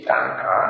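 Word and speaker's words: Tanha: This one is called Maha, M-A-H-A, Maha, Thanha, T-H-A, no, T-A-N-A, T-A-N-A, T-A-N-H-A, T-A-N-H-A, Thanha, Sankhaya, S-A-N-K-H-Y-A, Sutta, S-U-T-T-A. And this is Majjhima Nikaya number 38, Maha Thanha Sankhaya Sutta.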